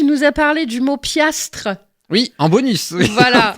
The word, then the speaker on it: piastre: vient de l'ancien français, qui se prononce piastre, qui s'écrit piastre et qui signifie dollar, exactement.